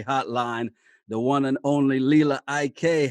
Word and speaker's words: Lila Ike: Because I've heard so many people pronounce your name different ways. Yeah, man, it's Lila Ike.